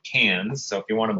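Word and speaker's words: Cairns: that's Cannes it looks like cards but it's pronounced Cannes so if you want to blend in you say Cannes because that's how they talk about it down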